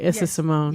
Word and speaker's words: Issa Simone: Issa Simone.